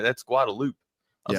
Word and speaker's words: Guadalupe: And I was calling it Guadalupe, and people are just like, "You ain't from here, dude, are you?"